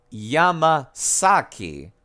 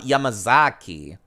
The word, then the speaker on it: Yamasaki: see yes you hero Yama saki not yamazaki yamasaki here you are did